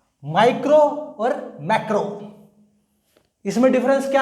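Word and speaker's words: micro: माइक्रो और मैक्रो। इसमें difference क्या आएगा? आई का प्रोनाउंस होगा माइक्रो, फिर आएगा मैक्रो।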